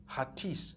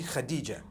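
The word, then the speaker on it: Hatice: people spell it h-a-t-i-c-e i would say hatis for that no it's actually khadijah in turkish that's the way they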